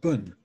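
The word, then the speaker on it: Bön: the indigenous religion of Tibet his name called Boone it's usually spelled P O with an umlaut in and pronounced Boone or B o with a known loud and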